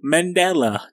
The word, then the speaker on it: Mandela: Mandela, that's how I pronounce it.